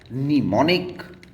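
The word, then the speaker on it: mnemonic: एक है आपका निमोनिक जिसमें एम साइलेंट है और दूसरा है निमोसाइन।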